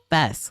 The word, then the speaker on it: FES: He pronounced it like the first half of festival, supposedly. So Fest, like I've been saying.